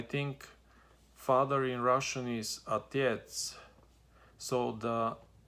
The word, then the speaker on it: отец: So for example, I think father in Russian is отец. So the отец is spelled O-T-E-C. So the O, they don't pronounce O, they pronounce it like A, almost like A.